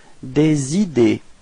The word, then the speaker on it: des idées: Des idées. Repeat. Des idées. Okay, so final E and final S are not pronounced as well.